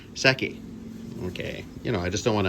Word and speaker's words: Seki: I'm going to say Seki. Can you hold on for a second? All right, I just came back and I asked my wife, and she said I said it right the first time.